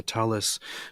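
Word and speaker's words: tallis: In Yiddish, it is a talis with the stress on the first syllable.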